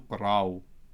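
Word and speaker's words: ܩܪܒ: To say third masculine, that he drew near, you add a ptacha after the resh, which softens the bet to qaraw.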